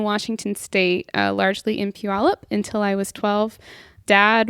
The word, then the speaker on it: Puyallup: spell that for me p-u-y-a-l-l-u-p Pew y'all up almost like Puyallup wow okay I don't